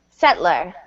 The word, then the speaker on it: settler: decorate decorate ancestor ancestor settler settler um settler or settler yeah I was just going to say there's a second pronunciation that's kind of three syllables settler settler sett um Colony col